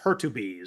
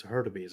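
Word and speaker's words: Hurtubise: Looks like correct pronunciation is Hertubis, so I guess that's better than I said. It's Hertubis.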